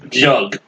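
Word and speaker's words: Gug: Jug, G-U-G. But it's pronounced Jug. Okay.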